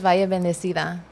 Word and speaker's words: Valle.Bendecida: I'm an artist from the San Fernando Valley, and I go by KellyCoolCat on everything else, but my brand is Valle.Bendecida. Okay, that's how you pronounce it.